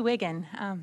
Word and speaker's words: Wiegand: Hi, I'm Wiggin. That's how it's pronounced.